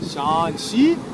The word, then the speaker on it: Shaanxi: Zwar das X, das wird nicht wie in Deutschland X ausgesprochen, sondern Ch.